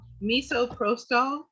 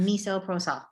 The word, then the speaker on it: misoprostol: Or Miso spell it out. Misoprostol, MISOPROSTAL.